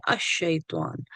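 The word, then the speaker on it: الشيطان: शैतान आया है वो लाम जो है वो ड्रॉप हो जाता है क्योंकि आगे शीन है और यह रूफे शमसी ये मुख्तलिफ हुरूफ है जिससे पहले लफ्ज जो है वो हर्फ जो है वो साइलेंट हो जाता है सो शैतान पे शद लगी हुई है अ शैतान अजु बिल्ला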